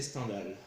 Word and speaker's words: Stendhal: Stendhal. Mais c'était un auteur Parce français, que- ça se prononce à la française.